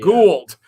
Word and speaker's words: Gould: Gould. I've had students and athletes with that, and they've pronounced it Gold both ways. Oh, wow. I've had a Gold and a Gould.